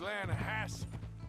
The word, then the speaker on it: Lanahatchee: The other day, I rode down to the Lanahatchee River. I caught some beautiful steelhead trout. You mean the Lanahatchee River? No. The Lanahatchee. It runs right near here. Yeah, but it's pronounced Lanahatchee.